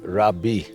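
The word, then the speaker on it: רבי: is a rabbi and the Hebrew rabbi would be pronounced Rabi which means my teacher so besides telling us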